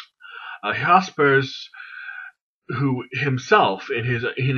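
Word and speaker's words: Jaspers: in English but he was German so it's pronounced hospice a hospice who himself in his in his own right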